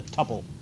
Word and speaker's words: tuple: it's also called a tuple a row is sometimes called a couple rhymes with couple so you would have